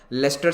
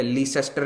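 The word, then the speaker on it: Leicester: क्योंकि Claudia web जिस area की एमपी है वहां पर, लेस्टर सिटी कहते हैं, ठीक है, लीसेस्टर नहीं कहते, थोड़े अंग्रेजी प्रोनाउंसिएशन अपन को आते हैं।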